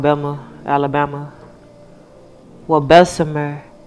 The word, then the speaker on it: Bessemer: Well, Bessemer is the correct way to say it. But we say Bessemer, not too far from Birmingham, Alabama.